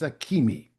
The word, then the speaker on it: Akemi: So yes, it's Akemi. Thank you for asking that question. Good question. There are some questions about pronunciation in some of the books when they